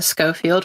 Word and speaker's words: Schofield: Uh, my name is uh Scoffield with a hard C. And I do not blame you because it is 100% looks like it reads with a soft C and and the H.